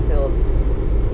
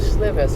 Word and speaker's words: Silves: can see that's silves i want to call it slivers for some reason i thought i heard that pronounced last night yeah they kind of it's like it should be like sylvester they've got a bit it's almost like the eye was silent hmm apparently they